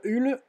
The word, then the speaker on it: Hull: Hull, pardon, prononcé à l'anglaise, Burnley, et puis Queen's Park Rangers, c'est ça, voilà.